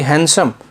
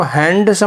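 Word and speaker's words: handsome: और ये हैंडसम, इसको हैंडसम नहीं बोलते, क्या होता है, इट्स हैंडसम जिसमें डी साइलेंट होता है, और हैंडसम आता है किसके लिए, पुरुषों के लिए काम में आता है।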